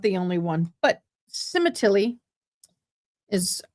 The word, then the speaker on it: Sementilli: But Cemetilly is, how you say it.